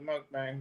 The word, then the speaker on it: mukbang: difference yeah okay mukbang yeah it's it's the mukbang for sure yeah and crafty Leo thank you